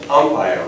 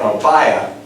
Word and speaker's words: Ampaya: and in some countries, they say Ampaya with an accent over the A to make the pronunciation match the English. But in Cuba, they mostly say Ampaya, and so I've already gotten like criticism.